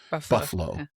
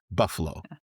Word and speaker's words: buffalo: Especially if you Especially if you drop the middle A and you pronounce it like it's B U F F {apostrophe} L O, buffalo, buffalo.